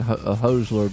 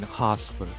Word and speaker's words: Hostler: up in here, but I think I'm still saying Hosler, but how he said it back. Say it again. It is, ladies and gentlemen, it is Lane Hostler. We've been saying it wrong this entire time.